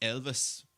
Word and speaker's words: Ylvis: And one more thing to say about, I think it's pronounced Elvis, but it's like YLVIS is what you call the group that sang What the Fox Say.